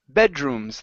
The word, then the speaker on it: bedrooms: the last word here is bedrooms the stress is at the very beginning instead of bedrooms it's bedrooms bedrooms good all right nice